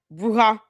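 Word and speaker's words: bruja: You know, her and the other witches and warlocks and goblins, ghouls, the bruha. Is it Did I say it right? Bruha.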